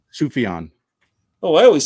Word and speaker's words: Sufjan: My favorite album this year was Sufjan Stevens' Javelin.